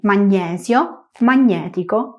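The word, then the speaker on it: magnetico: Recuerda que en español decimos magnesio y magnético pronunciando tal cual se escribe, pero en italiano g n e es ño, magnético, año.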